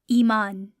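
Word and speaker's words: ایمان: The word is iman. Iman. Again, whenever the long vowel sound is at the beginning, we're going to use the letter aleph to help us create that sound.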